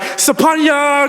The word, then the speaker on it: Sophornya: It's Sophornya. The PH in my name is pronounced like a P and less of an F sound.